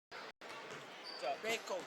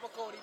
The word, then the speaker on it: Bako: Bako, not Bacody, Bako.